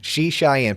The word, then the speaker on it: Srichaiyan: She, like the girl. Wrote it on my window. Shy, like you. And like the girl's name. Srichaiyan.